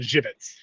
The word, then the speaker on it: Żywiec: The funny thing is, it's of Polish origin, and it's like in Poland there's a beer that's spelled Zywiec, which is called Żywiec, and I think like Żywian or Żywen is how you pronounce it in Polish.